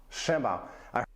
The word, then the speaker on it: siema: Siema.